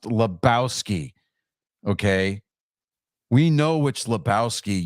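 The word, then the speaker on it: Lebowski: dude dude stop oh my God the it's pronounced Labowski okay we know which Labowski you are laow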